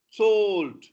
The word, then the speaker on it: sold: Wall, sold, loya, lower, cause, bone, quorum, boat. I think this is what must have puzzled you. It's not salt, it is sold. Sold. Pass me, sold.